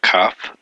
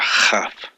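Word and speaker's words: כ: And that's pronunciated hard as a Kaf, a K sound, or a Chaf for a soft sound if it doesn't have the dot in it.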